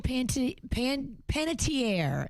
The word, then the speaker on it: Panettiere: Well, Hayden Panettiere is how you say it. Panettiere went on with Kelly Ripa and was talking